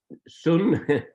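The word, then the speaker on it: ศูนย์: So sun is 0. It is written sunya, but the Thais, they just don't pronounce the last ya. They pronounce sun.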